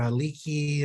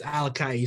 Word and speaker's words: ALAKA'I: right and some people call it alakai or a leaky and stuff but it's alakai so it's spot on you got it right bro pronunciation is perfect yeah I've been I was